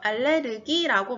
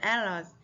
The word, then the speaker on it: allergy: 흔히 우리가 한국말로 알레르기라고 말을 하죠. 알레르기라고 말하는데 실제로는 어땠나요? 발음이 알레르기 아니고요. allergy라고 하죠. allergy. 그리고 이 단어의 강세는 첫 음절 A에 있기 때문에 allergy라고 강하게 읽어줘야 돼요.